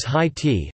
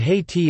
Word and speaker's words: Haiti: There are different anglicizations for its pronunciation such as high t, high et and ha et, which are still in use, but Haiti is the most widespread and best established.